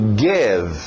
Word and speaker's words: give: To, e aberto o som de E. Cuidado, nada de I. To give.